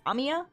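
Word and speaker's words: Amiya: Notice anything weird about how do you pronounce it? It's Amya. Amia.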